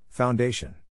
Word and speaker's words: foundation: is in this case the accent is in the second syllable corresponding today though are